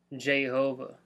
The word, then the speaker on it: Jehovah: Just like Jay-Z calls himself Jehovah. Like Jehovah. Because that's another pronunciation.